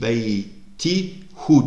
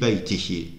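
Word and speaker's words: بيتِهِ: Fi beyti hu demiyoruz. Fi beytihi.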